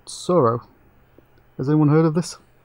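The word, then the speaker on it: Tsuro: Sorrow, yeah. How do you spell that? It's T-S-U-R-O. It sounded like a silent T, and then I was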